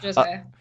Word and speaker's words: Josiah: And it's about two high school seniors named Deja and Josiah. Is that how you pronounce it? Yep, okay. Yep, Josiah.